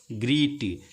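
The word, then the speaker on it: great: अब देखिए अगर बच्चा पढ़ेगा तो अब इसको पढ़ने में नोटिस्ड, तो नोटिस्ड इसे पढ़ेगा, ये है ग्रीट, ग्रीट ग्रेट, इसको बताएंगे कि नहीं ग्रीट नहीं है ग्रेट है।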